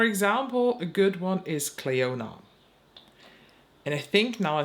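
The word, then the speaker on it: Clionadh: all ready that the the D in the end is not pronounced you do not say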